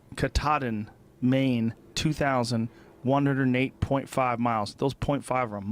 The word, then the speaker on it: Katahdin: Katahdin. Katahdin, Maine, 2,108.5 miles.